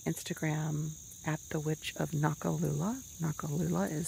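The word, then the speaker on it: Noccalula: But you can go to my Instagram at the Witch of Nakalula. Nakalula is spelled N-O-C-C-A-L-U-L-A.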